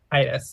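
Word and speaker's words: Caedus: Is that how you say his name? Cadus? Kaitis, I think. Kaitis. That's what my audiobook says, Kaitis.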